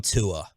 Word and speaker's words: Tua: Where do you stand on Tua?